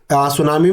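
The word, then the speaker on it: tsunami: है modern world में तो सुनामी में जिसे टी साइलेंट रहता है जिस साइकिल वाली साइकोलॉजी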